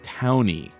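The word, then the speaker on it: Taunie: Then qu says, "So I think t a u n i e is pronounced towny."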